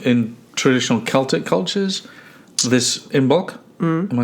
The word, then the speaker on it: Imbolc: And so there's been in traditional Celtic cultures this Imbolc.